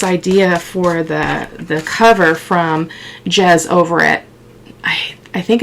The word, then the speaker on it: Gez: I used to say her name wrong too, and now I know it's pronounced Jez, even though it's G-E-Z.